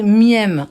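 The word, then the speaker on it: מם: Elle dit en fait, alors ça se prononce miaum, ça fait miem en fait, en lettre hébraïque.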